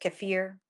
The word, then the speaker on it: kefir: out about the kefir Pro which apparently is pronounced cfir but I like kefir better I was about to say I don't